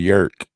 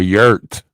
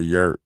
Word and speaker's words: yurt: Yeah, it's a jerk. Oh, a yurt. Oh, I'm saying it wrong. A yurt.